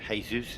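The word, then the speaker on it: Jesús: Like Tijana it's more like a Y but Jesus is more like an H.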